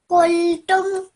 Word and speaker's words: قلتم: Just your qaf over here. Try to pronounce that from your throat. So, قلتم qa. قلتم.